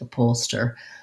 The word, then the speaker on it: upholster: pollster a pollster um the h is pretty much silent upholster um pollster i'm just checking the the syllable stress so it has second syllable stress which means the up is pretty short and unstressed it is just like the word up same vowel sounds a